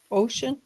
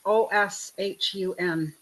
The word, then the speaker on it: Oshun: Because I was looking for, yeah, how did you pronounce, how did you spell her name? Which one? Ocean? Ocean. Oshun. It's Oshun.